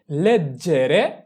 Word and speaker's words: leggere: লেজেরে লেগ লেজেরে লেগ ইয় লেগঞ আমি পড়ি আমরা